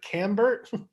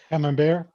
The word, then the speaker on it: Camembert: Cambert? Camembert. Camembert? All right, we'll go with Camembert. Sure. Ian, that's you. We're rhyming with Camembert.